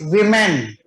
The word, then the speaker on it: women: It is women. Avinash has given the answer. Fish, okay. It is women. O is pronounced as I.